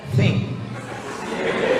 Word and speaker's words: think: T sama H itu bacanya think.